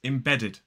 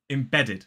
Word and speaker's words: embedded: and it is embedded three syllables the stress falls on the second syllable so the first syllable is I then we have a stress syllable which is B the ined embed and then the last syllable is it embedded three syllables the